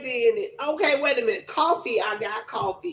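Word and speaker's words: Ko-fi: Coffee. I got coffee. It's It's not spelled coffee though. It's spelled K O F I.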